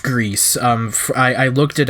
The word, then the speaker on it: Gris: um it is pronounced Greece um I I looked it up the official Twitter account for them have stated that it is pronounced grease because it is spelled